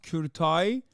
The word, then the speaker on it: Kurtaj: It's pronounced Kurtai.